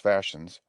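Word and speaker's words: fascines: word is pronounced gavins the fashions pronounced fashions are as i said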